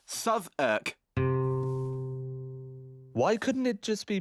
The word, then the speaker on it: Southwark: Southwark! And yes, it's pronounced Southwark. Why couldn't it just be pronounced Southwark?